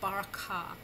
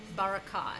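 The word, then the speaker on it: בְּרָכָה: The initial schwa, the first schwa in a word, is always vocal. For instance, the word barakah. Let me show that to you. The schwa beneath the beth is going to be vocal.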